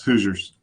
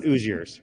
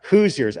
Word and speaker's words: Hoosiers: Is it Hoosiers? How do you say it? Yes, Hoosiers. Yep. Hoosiers? Yep. Like it's not a silent H. It's not Hoosiers, right? It's correct. Yeah. Hard H.